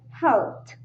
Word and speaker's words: helped: word or what you are saying it is pronounced like helped helped helped right then we have the number